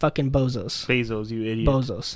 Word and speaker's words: Bezos: a bozo you idiot it's Bezos boo how how do you spell it b e z o but I call him bozos why because he's a